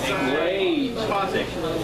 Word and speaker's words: psychotic: That's with a silent P. Psychotic.